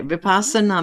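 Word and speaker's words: vipassana: meditator did I get that right did I pronounce that right uh well as I don't know for sure Butana vipasana VI vipasana okay vipasana meditator for over 30 years her study and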